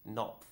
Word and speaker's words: Knopf: And I noticed the publisher is Knopf. Knopf, She yes. doesn't know how to pronounce it.